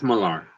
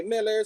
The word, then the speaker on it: Millar: How did he say his name? I think Millar or Mark Miller? It's Millar. Millar? Okay, because some people say Miller, some people say Millar.